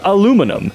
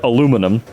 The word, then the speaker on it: aluminum: What's funny is, it was invented by an American, spelled aluminum, and pronounced alu-min-um, and suddenly Europe decided to change the spelling and pronunciation.